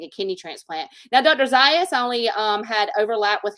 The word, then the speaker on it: Zayas: Greenville South Carolina with Dr Schusterman and Dr satayas is that how you pronounce it z-a-t-a-s oh Dr zayas yes yes so um yeah Dr shusterman's great